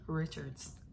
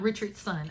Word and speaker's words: Richards: the author's name wrong it is KD Richards not Richard's son I swear sometimes I